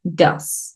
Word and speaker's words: does: Tenemos do, does. Aquí tengo una mnemotecnia. A veces, bueno, tú ves esto y tú dices, pero eso es does. Bueno, en pronunciación te vas a acordar de la palabra dudas, como preguntas.